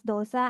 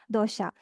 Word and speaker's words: dosa: So first thing is dosha. So I used to have a fight with my Tamil friends. So they pronounce this as dosa, and in Kerala we pronounce this as dosha.